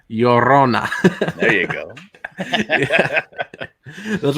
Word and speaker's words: Llorona: La yo, like hey yo. Yo. Yeah. Rona. Llorona.